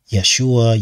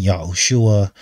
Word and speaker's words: Yeshua: out is Jesus Christ Yeshua yahushua there are different variations on the way to say his name um I heard one channel say yahawashi or something like that so whatever the case